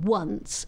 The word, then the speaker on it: once: yourself how you describe the letter o in once phonetically because it's pronounced as a w and the letter a